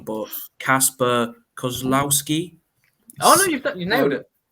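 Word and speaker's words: Kacper Kozłowski: I mean, I'm probably going to butcher the pronunciation, but Kasper Kozlowski.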